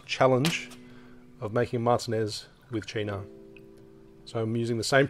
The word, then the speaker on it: Cynar: Nico, I actually quite like the way how you actually pronounce Cynar. I think it's more Cynar. It's probably the correct way to pronounce it.